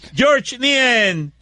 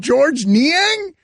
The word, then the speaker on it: Georges Niang: ni a you're wrong George nian GES and IA ng George man you forgot about the silent s there was a silence s in Georges Niang wait a minute what's